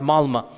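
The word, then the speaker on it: Malmö: And in Stockholm, if you have 10% Muslim, I was in the city of Malma. Malma is it's is spelled with an O but is pronounced Malma.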